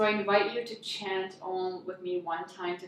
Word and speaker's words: Om: of the head and ohm is spelled om or AUM so the sound when you chant you start the AH at the bottom and as you go all go to the center and that mm resonates at the top